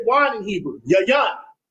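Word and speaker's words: יין: Yan. Yan.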